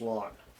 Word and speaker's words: ln: to call lawn okay it's spelled lawn or pronounce lawn but it's a natural logarithm of X it's